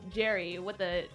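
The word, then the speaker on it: Gerry: Jerry, pronounced Jerry, written with a G, though.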